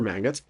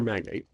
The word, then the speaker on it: magnate: An innocent witness, the housekeeper of a missing sugar magnet, uh gets magnate, sorry, sugar magnate, pronounced that right, uh gets eliminated by a low-level thug in a crime family.